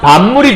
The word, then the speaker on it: 밥물: 자, 여러분 밥물이라는 단어가 있어요. 발음하게 되면 밥물이 되죠. 그럼 어떻게 된 거냐면 요 비읍이라는 게 미음으로 이렇게 해서 어떻게 됐죠? 바뀌었죠?